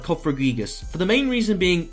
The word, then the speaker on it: Cofagrigus: Cofagrigus?